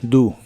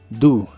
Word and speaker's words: do: y usaremos el verbo do que significa hacer como en hacer algo la o se pronuncia como u do do el auxiliar wouldn't junto